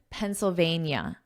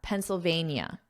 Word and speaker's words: Pennsylvania: Notice that pronunciation Pennsylvania. NIA. Pennsylvania In one of his first interviews since the incident, Mr.